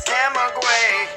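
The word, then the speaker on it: Camagüey: just as you saw if you pronounce it correctly it sounds like grandma orgy is the name of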